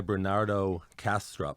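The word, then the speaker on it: Bernardo Kastrup: the first tab up um there's a guy Bernardo castrup if I'm pronouncing it right that's right and uh I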